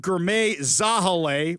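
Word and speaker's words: Girmay Zahilay: All right, well, King County Executive Gourmet Zahale, which, by the way, apparently that's the correct pronunciation for that one, along with other officials,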